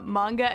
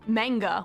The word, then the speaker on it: manga: And I remember back then I kept pronouncing it manga when I would talk to her, and she'd kind of whip around and be like, it's manga.